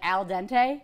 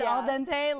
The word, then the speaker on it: al dente: think they meant to say it more like Al Dente yeah when you pronounce it it's Al Dente like not fully cooked pasta no that's a